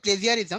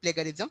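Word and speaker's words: plagiarism: Actually যদিও বলে প্লেজিয়ারিজম, actually উচ্চারণটা হলো প্লেগারিজম।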